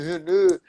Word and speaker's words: René: Para quem não sabe, o Renê se escreve com acento agudo, não com acento complexo. René no Brasil, René na França, né? Tem que fazer o biquinho, René.